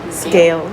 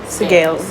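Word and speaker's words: Sgaeyl: Gale scale scale scale scale scale.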